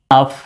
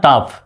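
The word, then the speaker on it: tough: piece and happy life দো topic is very টাফ to remove এটা কেমন বানান টাফ আমরা জানি এফ তে ফায় পিএইচ তে ফায়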